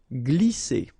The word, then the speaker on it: glisser: Glisser. Remember, double S here, vowel, vowel, so it's really strong. S, okay? And then when you combine this G and L here, you get the sound gl, gl. Glisser.